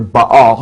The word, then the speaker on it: Baal: It's a combination of Jehovah, Baal, and Osiris.